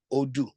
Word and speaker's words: Odu: terms of oh do odoo is spelled o d u o do right it is a word